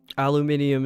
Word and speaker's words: aluminium: Aluminium is how they say it.